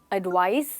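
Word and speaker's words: advice: ध्यान से सुनिए, एडवाइस सर एडवाइज। इनकी प्रोनाउंसिएशन में भी एक छोटा सा फ़र्क है, तो वो आपको हमेशा याद रखना है।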